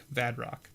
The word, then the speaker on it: Vadrock: I always want to, like, not pronounce the R, I guess. I don't know. Is that... Yeah, my brain is just like, no, there's no R there. And I'm like, but there is an R.